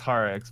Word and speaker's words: Kyrix: Yes, it's Harix, but I like Kyrix. I think Kyrix sounds cooler.